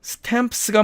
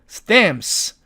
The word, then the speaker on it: stamps: 자, 그 다음에 C번의 이 단어는 사전식 발음으로는 stamps가 맞습니다. 그런데 또 보니까 스 이렇게 세 개의 자음이 나란히 모음 없이 놓여져 있습니다. 그래서 이 경우도 가운데 있는 자음은 발음하기가 까다로우니까 아예 빼버리고 이렇게 stamps 이렇게 발음한다는 뜻입니다.